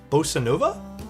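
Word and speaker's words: bossa nova: How do you pronounce it, Tim? Bosanova.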